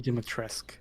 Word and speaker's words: Dimitrescu: There's no pronunciation on the U. Yeah, it's Lady Dimitrescu.